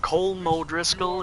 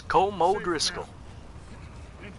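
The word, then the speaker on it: Colm O'Driscoll: if that's how I naturally pronounce it it's not coal mo Driscoll it's kool Moe Driscoll you come with us must be [ __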